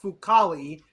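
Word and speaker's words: Fucale: Talk about our young man, Zach Fucali. That's how you say it properly.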